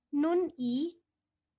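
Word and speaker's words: 눈이: atas menggantikan yang ya Jadi dibacanya bukan Nun I2 kan terpisah tapi seperti ada asimilasi atau penggabungan ini bacanya Nuni ya kayaknya tetap mata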